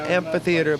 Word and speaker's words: amphitheater: We finally found out the correct pronunciation is amphitheater, not amphitheater, not amphitheater, but amphitheater. As we pass back over